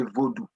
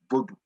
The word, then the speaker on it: vodou: two and whenever possible if you're talking about haitian vodou say vodou not voodoo and spell it in